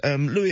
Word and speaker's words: Louis: Meanwhile, I've gone for, well, I've done this partly because Louis Armstrong, or Lewis, I think the Americans pronounce it, would have been 120 years old this week had he been spared.